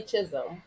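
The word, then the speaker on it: Chisholm: sherle um prol again helped me with the pronunciation Shirley Chisum who was the first African-American to run for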